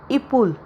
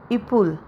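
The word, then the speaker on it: épaule: तो इसकी pronunciation French में है इुल। इुल और ब्रिज को हिंदी में पुल बोलते हैं।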